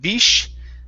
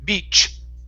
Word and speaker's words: beach: to this word here we're working on the ch sound at the end instead of bish it's beach beach be good good excellent